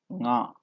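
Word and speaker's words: ಙ: This is nga. You have to pronounce it with your nose.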